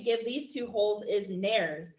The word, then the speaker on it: nares: The name that we give these two holes is nares. It's helpful to know that the world rhymes with fairies.